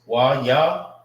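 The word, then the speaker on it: יהלום: It's Wayalum. Wayalum. That's how you say diamond in the Hebrew.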